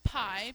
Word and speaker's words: pi: We use the symbol right here, okay, which is the Greek letter pi, pronounced like pie that you eat, to represent this number.